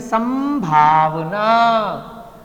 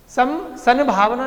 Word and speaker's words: संभावना: मां का ही उच्चारण आ रहा है बाय डिफॉल्ट। सन भावना नहीं बोलने में आ रहा, सन भावना क्या आ रहा है, संभावना। क्यों, भा मां वाले वर्ग में है।